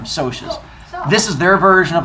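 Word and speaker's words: Socs: You guys are probably going to pronounce it as socks. Yeah. Right. But it's short for the word social, which is why they call them socias.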